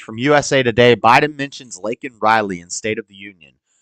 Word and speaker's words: Laken: What about Laken Riley? Laken Riley, say her name, say her name. Same thing the BLM people did. Laken Riley. Laken Riley. He said Lincoln.